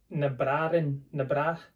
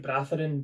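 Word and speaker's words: Na Bràithrean: i like and this is called nabrarin so it looks like bratharin but the way he pronounces and it's a gaelic for the brothers so the story behind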